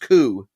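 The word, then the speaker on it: 九: is almost as bad because it's pronounced coup the same is the word for suffering also sounds cool to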